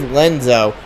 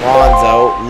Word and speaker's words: Lenzo: oh, yeah, it is Lenzo. Oh, it's Lenzo, not Lonzo.